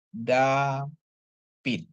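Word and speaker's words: דָּוִד: Terus untuk dalet ya, dalet dikasih kamats, dengan pap dikasih hirik, tambah dalet, dia jadi bacanya dapit ya.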